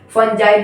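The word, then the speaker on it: fungi: फंगी को आप फंजाई भी पढ़ते हो, इसका स्पेलिंग रखने के लिए और थोड़ा बहुत मजाक मस्ती के लिए हम लोग इसको फंगी पढ़ते थे, फंगी, ठीक है।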